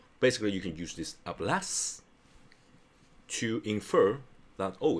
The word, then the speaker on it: hablas: Speak ablas. H do not pronounce. Okay. Abas.